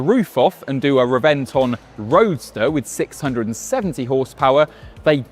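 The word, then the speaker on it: Reventón: And that story starts here in 2007 with the Reventon, or Rebenton, if we're doing proper pronunciation.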